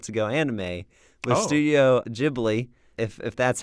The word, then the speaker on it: Ghibli: I think in Japanese it's like Ghibli. I think it's something like that, so that's why I pronounce it Ghibli.